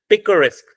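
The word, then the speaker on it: picaresque: तो अब 3 सिलेबल है, तो हमारा स्ट्रेस किस पे लगेगा? लास्ट पे। लास्ट कौन सा है? रेस्क, क्योंकि UE तो साइलेंट हो गया, ये क की साउंड देगा। तो ESQUE तो मैंने बना के दिखा दिया आपको, एस्क बनेगा। र आ रहा, र लगा दिया हमने इस पे स्ट्रेस।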